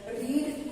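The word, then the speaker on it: read: रीड को हम यहाँ स्पेलिंग तो सेम ही लिख रहे हैं, R-E-A-D, R-E-A-D, लेकिन प्रेजेंट टेंस में इसको हम पढ़ते हैं रीड और पास्ट टेंस में इसी को हम पढ़ते हैं रेड।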